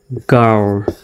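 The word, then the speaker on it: girl: জিআইআরএল উচ্চারণটা হবে গার্ল, গার্ল, এরকম, গার্ল মানে মেয়ে বা বালিকা।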